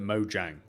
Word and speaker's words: Mojang: like to call it mojang i i like to pronounce it mojo but i know that's wrong um i built my